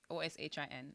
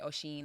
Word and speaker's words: Oshin: Well, my real name is Ocean, like Oshin, Ocean. Okay. But it's pronounced like if you was to ask anybody that's Jamaican, they Mhm. probably gonna say Oshin, like my family.